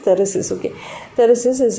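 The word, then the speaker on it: Thyrsis: and the matthew arnold's terrorists it's to be pronounced terraces okay there is this is an example for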